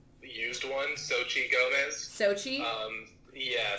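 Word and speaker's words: Xochitl: um like used one Sochi Gomez Sochi um yeah so they don't pronounce the L part though probably it goes sochido but everyone just calls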